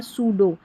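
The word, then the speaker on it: pseudo: 36 पर है पीएस। इसको स पढ़ेंगे। पी साइलेंट है। जैसे साइकोलॉजी और सूडो।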